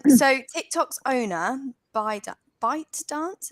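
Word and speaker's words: ByteDance: tick tock's owner by bite dance is how you say it by dance um they're showcasing a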